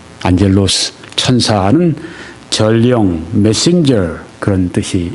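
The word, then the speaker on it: ἄγγελος: 이 천사는 성경에 보게 되면 헬라어로 안젤로스, 그렇게 발음을 합니다. 안젤로스, 천사는 전령, 메신저, 그런 뜻이 있습니다.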